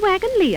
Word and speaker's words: wagon-lit: This is the wagon Lee office. Why, it's spelled wagon lits. I know it's spelled lit, but over here they pronounce it Lee.